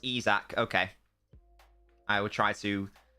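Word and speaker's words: Isak: and it looks like Isaac is on by the way it's pronounced izac okay I will try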